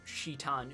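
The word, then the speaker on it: Citan: miss romanized mmm okay even though it's spelled with a C in English it's meant to be cheatin uzuki so SH ITA n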